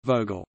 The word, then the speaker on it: Vogel: V is pronounced f in a limited number of words of Germanic origin, such as Vader, fat, Vogel, bird, von, from, of,